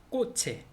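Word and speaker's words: coche: 꼬체, 꼬체 자동차 라고 이렇게 발음을 합니다.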